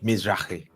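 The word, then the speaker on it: Mizrahi: Am I pronouncing it correctly? Mizrai.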